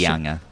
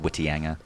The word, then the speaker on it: Whitianga: Generally, it's seen that the Maori pronunciation is the proper pronunciation, so it's Whangarei. Right, okay. Yeah. So, actually, just maybe to finish... Whitianga as well. Yeah. Instead of Whitianga.